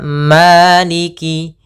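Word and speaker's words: مالك: maiki yaumiddin Maliki yaumiddin pada lafal Maliki maanya buka fathah mulutnya agar menyempurnakan fathahnya Ma bukan Ma tapi dia Maliki Maliki maiki yaumiddin Kemudian pada lafal Ki maaf pada lafal ini jangan sampai Malik misalnya begitu atau Maliki ditekan enggak tapi dia mengaliriki maiki maka maiki yaumiddin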